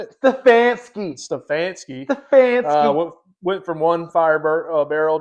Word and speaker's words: Stefanski: Stefanski.